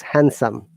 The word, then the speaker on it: handsome: There is no D sound. It is handsome.